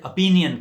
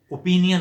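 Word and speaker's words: opinion: وہ غلط ہے، پراننسیشن۔ اور پھر اپینین کہنا ہے، اوپینین غلط ہے، اپینین ٹھیک ہے۔ اور اسی طرح انوسینٹ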